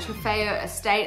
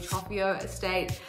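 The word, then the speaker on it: Trofeo Estate: an incredible evening at trifeo estate i finally learned how to say it i've been saying tropico estate um it was such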